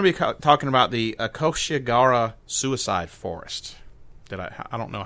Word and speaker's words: Aokigahara: Aokigahara. Yeah, that's it. We're going to be talking about the Aokigahara Suicide Forest.